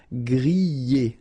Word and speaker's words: griller: You pronounce them A, okay, even if you've got this R, okay, this combination of 2 letters, R at the end, will give you the sound E, all right, so griller, okay, let's see the others.